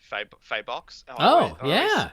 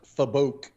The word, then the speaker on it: Fabok: but I think Jason Faybox. Yeah. Am I saying his name right? That's how I say it, wrong. So I'll allow it. It's pronounced Fabok.